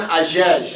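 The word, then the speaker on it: Hagege: Agege. It's spelled with an H, but it's silent. H-A-G-E-G-E.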